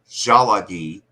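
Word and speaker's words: Tsalagi: And they pronounced the L like an R. So Shalagi or Salaki, Shalaki, in their accent sounded like Sharaki.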